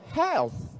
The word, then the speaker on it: health: Tapi kalau th itu dibaca tsa. Contohnya health WHO World Health Organization.